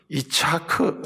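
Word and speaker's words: יצחק: 12,000 이사 이렇게 있는게 아니고 이차크 라고 읽어요 히브리어로 이상 을 부를 때는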